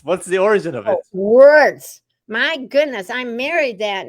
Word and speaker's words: Wirtz: automatically uh I'll say hello my name is wordss W rtz because no one can ever spell it or say it right and I don't want